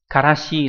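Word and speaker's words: 辛子: Karashi là chữ tân với chữ tử là một loại mù tạt dùng để làm gia vị.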